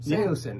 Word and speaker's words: Saosin: Saosin.